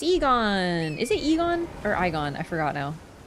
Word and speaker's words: Egon: It's pronounced Egon, not Igon. Thank you. Remember his name? I remember it's either Egon or Igon.